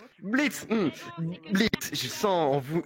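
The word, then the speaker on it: Blitzø: On prononce pas le haut. Blitz, Blitz, je sens en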